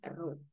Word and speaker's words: rho: Ini mes jenis bacanya row.